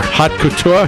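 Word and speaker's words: haute couture: last whatever that was hot Couture hot Couture is that the way you pronounce that yeah it's French we we we doctors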